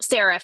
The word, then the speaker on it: Seraph: Is that how you say it? Seraph? Seraph, yeah.